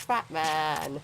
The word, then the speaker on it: Fatman: get it but it's fat man it's not batman it rhymes with batman batman became fat man